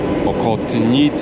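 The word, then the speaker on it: Охотный Ряд: At first I read this as “Ox…” But it’s not an “X”, because it’s pronounced “Okhotny Ryad”.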